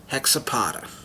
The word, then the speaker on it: Hexapoda: I can officially announce hexa Potter and I don't know in the dictionary or whatever if it's pronounced X a Potter I except older I'm pronouncing it hexa Potter is the first villain